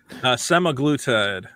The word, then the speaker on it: semaglutide: How do you pronounce it? Semaglutide.